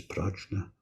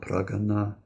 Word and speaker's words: prajna: Now the word for this is prajna. Prajna, pragana, pranja, pronounced differently, different options, but wisdom, deep wisdom, which will be our sixth paramita, and that we'll be studying next year.